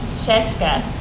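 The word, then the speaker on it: Scieszka: This book was written by John Shagaska and Lane Smith. And there's lots of different ways to pronounce it, but I believe it's John Sheska and Lane Smith.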